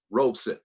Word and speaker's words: Robeson: this man paul robeson two syllables robeson paul rosen most people